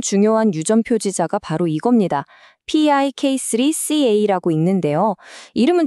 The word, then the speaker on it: PIK3CA: P3CA라고 읽는데요.